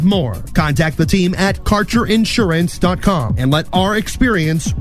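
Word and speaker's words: Kaercher: today your connection to Quality cannabis Insurance Services is spelled k a e r c h e r that's CER insurance we have worked with Ventures like cannabis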